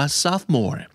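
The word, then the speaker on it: sophomore: Four More นะ ครับ s o p s o m o r e อ่าน ว่า ทรัพย์ โมน แท้ ไม่ ออก เสียง ตัว Four เลย นะ ครับ ทรัพย์ หมด ทรัพย์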